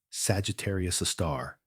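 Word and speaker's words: Sagittarius A*: This magnificent cosmic giant abbreviated as Egar A star and pronounced Sagittarius a star represents one of nature's most profound mysteries.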